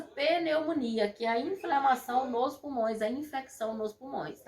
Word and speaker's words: pneumonia: dificuldade de falar né os nossos pacientes chegam falando outros nomes que é a peneumonia mas hoje sim vocês como tec de enfermagem terão que saber para a pronúncia correta da doença peleumonia que a inflamação nos